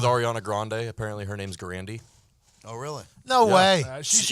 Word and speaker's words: Grande: and she said, I don't want to drop the Grandy. That's how she pronounced it herself.